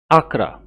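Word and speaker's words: Accra: अब है इन आकरा। आकरा प्रोनाउंस करेंगे।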